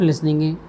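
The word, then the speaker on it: listen: एल आई एस टी एन और लिसन T silent होता है इसमें।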